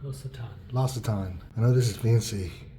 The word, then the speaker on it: L'Occitane: How do you say these toiletries? Low octane? L'Occitane? I don't even know how to say this. L'Occitane. I know this is fancy. The shampoo is L'Occitane.